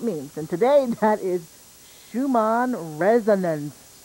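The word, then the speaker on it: Schumann: and today that is Shuman resonance did I say it right perfect Shuman resonance that's right what the heck is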